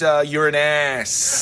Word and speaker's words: Uranus: That's the name of the planet, man. Another pronunciation is Uranus. Hey, yeah. It's a pronunciation. It's a way you can.